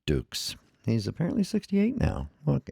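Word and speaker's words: Dux: Of course, the film was all bullshit and stuff, but Frank Dukes is my understanding, is that's how it's pronounced, as Dukes.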